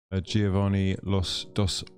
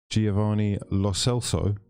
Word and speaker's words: Giovanni Lo Celso: Villarreal have signed Giovanni Los Dos... can we say his name properly? Giovanni Lo Celso.